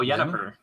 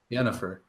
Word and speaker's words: Yennefer: Oh, Yennefer. Yennefer.